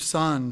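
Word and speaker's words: Tson: One of my favorite stories is a man by the name of Joseph Son. His name is spelled T-S-O-N if you ever want to read about him.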